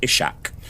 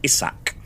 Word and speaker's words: Ishak: So I'd been pronouncing it Ismail and Ishak.